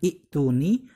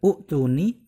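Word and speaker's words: ائتوني: Jadi kalau dibaca dari awal ini, cara bacanya bukan ituni, bukan utuni, bukan atuni, melainkan cara bacanya ituni.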